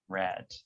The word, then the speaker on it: read: with the pronunciation so in the present we say read read but in the past we say red like the color so it's read red